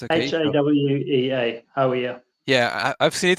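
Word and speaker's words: Hāwea: They are reaching the different ridges after Lake Hawea. Is that how we pronounce it? Correct. Okay, it's okay. Hawea.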